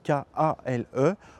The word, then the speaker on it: kale: Alors kale, ça s'écrit K-A-L-E, on le prononce à l'anglaise kale, mais vous pouvez le prononcer kale aussi si vous voulez.